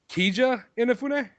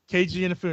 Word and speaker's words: Keiji Inafune: was help me if I say it wrong, Kija Inafune. Keiji Inafune.